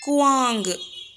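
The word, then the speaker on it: कुआँ: ஸோ இப்போ இந்த வேர்டை எப்படி ரீட் பண்ணணும், குவாங்கு, கு ஆ இங்கு, குவாங்கு.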